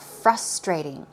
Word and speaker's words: frustrating: What about frustrating? Frustrating, stress goes right there on the first syllable.